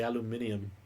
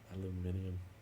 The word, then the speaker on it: aluminium: When you say it like that, I want to say aluminium. Aluminium. There's not a wrong way. There's just different ways.